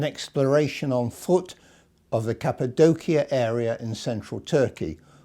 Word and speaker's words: Cappadocia: Firstly, an exploration on foot of the Cappadocia area in central Turkey, or as some of my friends there pronounce it, Cappadocia.